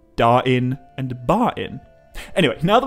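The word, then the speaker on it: Dáin: example, often pronounced it Dane and Bane. But given the available evidence, I think the consistent way to pronounce these names is like Dwalin or Balin, just without the L. Dain and Bain.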